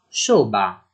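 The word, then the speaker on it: شعبہ: e che è shu3ba, in urdu pronunceremo la u breve come una o, quindi pronunceremo shoba; ancora quando la 3ain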